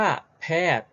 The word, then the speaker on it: แพทย์: เขา นี้ ไหม ลูก คำ ว่า แพทย์ แต่ ว่า ตัว ใหญ่ ยักษ์ เค้า ออก เสียง ไหม ไม่ ออก นะ เพราะ เขา มี อะไร ลูก มี เครื่อง หมาย ธนาคาร อยู่ ด้วย เพราะ ฉะนั้น ใหญ่ ยักษ์ จึง กลาย เป็น ตัว การันต์ นั่น เอง อ้าว งั้น เรา มา